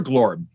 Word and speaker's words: Glorm: I prefer Glorm for short. Glorm. His full name is spelled GLORMORGLULLA, but you can call him Glorm for short.